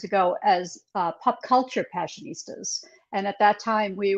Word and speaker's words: Passionistas: i'm not sure but i think i can pronounce it let me give it a shot um passionistas all right you did it oh very nice